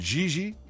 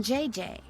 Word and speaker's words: Gigi: No, I mean JJ. Gigi. JJ. En français, you pronounce G like J and J like G. She may very well be JJ in America, but in France, she is Gigi.